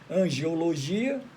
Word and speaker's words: angeologia: Então, a angeologia ou angelologia tem duas pronúncias, angeologia ou angelologia.